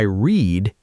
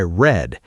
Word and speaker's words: read: Yes, the spelling is exactly the same, but the pronunciation changes. Today I read, yesterday I read.